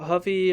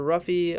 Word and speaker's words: Ruffy: Mauricio Huffy or Ruffy. I heard people pronounce it Huffy.